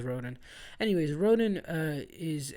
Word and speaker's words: Raoden: Raoden. Roden? I pronounce him as Roden.